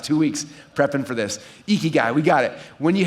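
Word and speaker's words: ikigai: for the last two weeks prepping for this eeky guy we got it when you have that then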